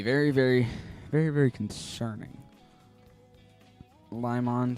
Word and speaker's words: Limon: Limon sounded weird when he said it. That's how it's pronounced.